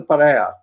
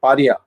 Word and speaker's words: pariah: Jayalalitha also had, once I had said, LTT is an international pariah. and pronounced in the English word is pronounced as paria. If I'm right, they don't say pariah, they say paria.